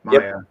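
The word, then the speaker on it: Maija: It's spelled funny. Yeah, M-A-I-J-A, Maya. Yep.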